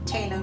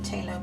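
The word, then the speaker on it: phthalo: I like Talo blue. I call it Talo blue because that's how my teacher, who was also British, pronounced it. I think that's done, and I'm going to sign.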